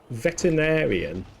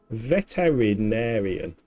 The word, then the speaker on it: veterinarian: Vet veterinarian. But there's an I in it. This is my brain thinking. Veterinarian. Veterinarian. That's how you pronounce it, isn't it?